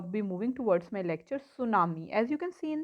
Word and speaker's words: tsunami: I have already told you that tsunami spell as Tsunami, but T is silent here, so the word is tsunami.